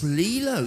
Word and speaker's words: Lilo: Have I got pronounced the names right? No. Lilo. It's Lilo.